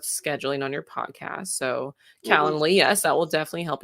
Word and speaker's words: Calendly: do you say that how do you say calendar calendar lee yes calendly it's amazing you solved